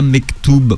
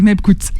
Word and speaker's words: Mebkhout: Contrairement à ce que je vous avais dit, je l'ai mal prononcé. Oui, c'est vrai, c'est Mebkout. C'est Mebkout. Et vous avez un moyen mémotechnique pour le retenir. C'est Mebkout-moi bien.